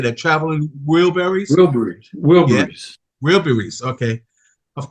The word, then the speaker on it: Wilburys: Wilburys.